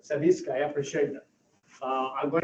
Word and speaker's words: Savitskaya: This lady, I will not try to pronounce that name. Savitskaya. Say it again? Savitskaya. Savitskaya, I appreciate that.